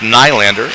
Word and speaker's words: Nylander: It's pronounced Nylander, and don't you forget it. She let me know before the game that would not appreciate the Scandinavian pronunciation of Nylander.